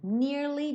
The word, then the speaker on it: nearly: Nearly done. Tem que ter esse Y no som do nearly. tá? É uma palavra de 2 sílabas, nearly.